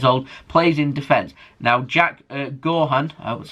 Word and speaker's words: Jack Gaughan: Now, Jack Gaughan, that's how you say his name, but he's